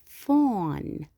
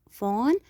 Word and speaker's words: phone: The fifth picture here, you can see this is phone. هاتف. Phone. Of course, we will write P, H, and we pronounce them F.